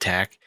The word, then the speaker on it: TAC: It was produced by Group TAC, TAC, but they do want you to pronounce it TAC.